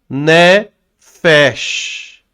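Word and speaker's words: נֶפֶשׁ: Então, como é que eu leio? Ne fech. Ó, ó aqui, aquele aquele X de cobra, né? Cascabel. É o nefash.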